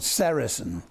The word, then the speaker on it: sericin: One of them, a very important one, is called sericin. You spell that S-E-R-I-C-I-N.